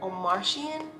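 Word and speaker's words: Omartian: praying wife by stormy or marion or marion or martian that is how you say i'm easily married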